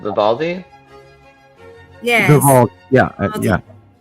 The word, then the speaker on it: Vivaldi: It's Vidaldi. Vivaldi?